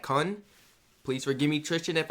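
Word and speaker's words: Kuhn: It was like K-U-H-N. Is that Kun?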